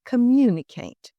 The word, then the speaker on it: communicate: Latin or Greek from for example the word communicate we stress the MU we need to communicate